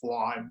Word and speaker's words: Foy: It's pronounced Foy. I get corrected on that every time I go out there.